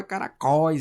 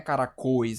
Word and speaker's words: caracóis: Caracóis, a gente fala caracóis, é aberto, não é caracois, é caracóis.